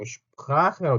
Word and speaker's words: Sprache: 언어랑 Sprache라고 하죠. Sprache. 이것도 Sprache라고 하는 게 아니라 Sprache, Sprache 이렇게 슈 하고 소리가 나는 거. Sprache. 이렇게 발음이 된다라는 거.